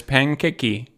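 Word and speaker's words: パンケーキ: Look, there's pankeki, right? So you don't even have to know how to write it. You just have to trust Google that Google's right. This is how you say pancake in Japanese.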